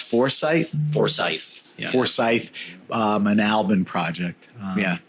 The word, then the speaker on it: Forsyth: So that's how do you pronounce Forsyth? Forsyth.